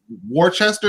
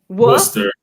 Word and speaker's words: Worcester: pronouncing that white wester there's no there's no h in the middle warster like you're going w-u-h uh-huh and then star wars it's like buster but with the w you could also use the